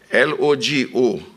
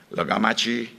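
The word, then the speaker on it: logomachie: L-O-G-O-M-A-C-H-I-E. There are different pronunciations for it. Some say, depends on where, logomachi, logamachi.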